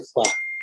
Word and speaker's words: Foix: maniobra de Foix, que se escribe así, Foix, pero es maniobra de Foix.